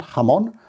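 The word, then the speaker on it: jamón: ham in spain jamon so it's spelt j a m o n but of course the j is an h sound ham on uh really lovely food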